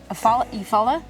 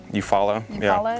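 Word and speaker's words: Eufaula: Lake Aala. Euphal is how you say it.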